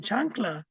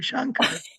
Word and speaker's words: Shanka: in fact in Mexico they gave me a new name chankla because they couldn't say my name shanka and I was like